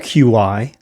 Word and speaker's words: Qi: Do you have QI? The word QI, pronounced Qi, is traditional Chinese medicine commonly defined